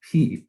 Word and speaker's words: pi: to teach the concept of consonants but i pronounce this word as p instead of pi and believe it or not to this day